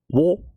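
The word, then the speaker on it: を: I've never been taught or never never learned, but for some reason, ha is wa. And then wo is also pronounced as o, you can kind of remove the w.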